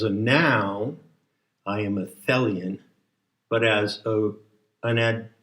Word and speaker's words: Thelian: badge that says fellian t-h-e-l-i-o-n and it rhymes with helian and it must be